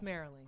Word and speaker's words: Marilyn: my name marilyn he keeps saying it wrong but it's merrily it's okay he's sorry